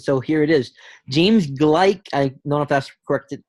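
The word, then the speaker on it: Gleick: butterfly effect and so here it is James gleich I know that corrected pronunciation in his book Kaos explains the butterfly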